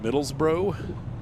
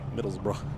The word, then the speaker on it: Middlesbrough: masks I'm like okay so is it Middlesboro they're like nope Middlesbrough red car that's easy